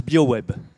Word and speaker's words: BioWooEB: a un nom bizarre qu'on prononce bio web biogaz issu d'un acronyme